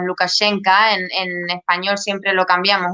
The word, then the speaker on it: Lukashenka: han dicho muy bien si queremos ser totalmente fieles si quieres la pronunciación bielorrusa diríamos lukashenka en español siempre lo